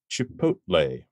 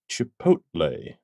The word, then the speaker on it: Chipotle: as well as a type of sauce is Chipotle Chipotle Chipotle occasionally you will hear people pronounce it chipot they are wrong the L